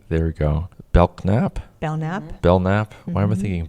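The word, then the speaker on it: Belknap: Bellnap. Bellnap. Why am I thinking Belnap? because it's spelled P E K. The K is silent.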